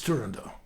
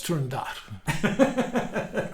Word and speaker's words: Turandot: If you go to Italy at La Scala, it's Turandot. If you go to the Met, it's Turandot.